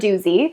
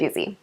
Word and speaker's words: Duzy: So, just so we're clear, it's not Dooy, it's not, it's Duzy.